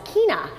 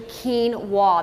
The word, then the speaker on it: quinoa: quinoa and that is quinoa often times people want to pronounce quinoa is Kina but it's actually quen wa that's the pronoun that's